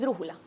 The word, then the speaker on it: brújula: brújula en la antepenúltima ojo con la pronunciación de esto yo podría decir que el 99.9 por de las personas pronuncian mal esa palabra sí la mayoría dicen porque ya no es grave sio es brújula y no es sino